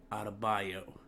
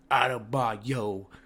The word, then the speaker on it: Adebayo: And also, I have to say sorry to that man Bam Adebayo and my boy Dre, because he roasted me for saying his name wrong.